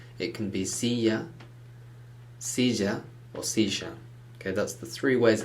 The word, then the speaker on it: silla: elicit it's not a love sound it's not silla it can be siya okay that's the three ways it's pronounced in the spanish-speaking world but never silla